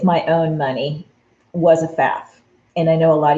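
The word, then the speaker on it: Pfaff: own money was a faff and i know a lot of you guys don't know how to say it but it's p f a f f and that's f the p is silent and i grew up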